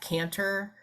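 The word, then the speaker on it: Kanter: social media um yes caner and I think it may be with a K not a c but pronounced the same way um k a n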